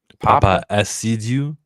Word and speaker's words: Paapa: way they are treating and how am I pronouncing his name? Is it Papa?